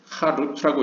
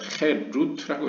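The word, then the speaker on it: חֵרוּת: 그래서 원래 본문에는 이제 하루트라고 쓰여져 있는데 하루트라고 쓰면 이제 새겨졌다라는 뜻인데 하루트라고 읽지 말고 아 대신에 에로 읽어라. 그래서 헤루트라고 읽어라.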